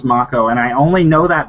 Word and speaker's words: Mako: should point out that it's pronounced Mako and not Mako oh really is it Maca it is Mako and I only know